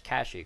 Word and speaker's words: Kashyyyk: right than not so for human people it's kashik for Wookies it's exactly you're